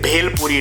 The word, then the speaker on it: Bhel Puri: Bhel Puri. You are proudly presenting this. Yeah, say Bhel Puri, it is Bhel Puri.